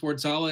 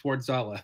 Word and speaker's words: Wardzala: Yes, it's Wardzala. It's actually Ward is in Guardian, and Zala is a river in Austria. So if you put them together, it's Wardzala.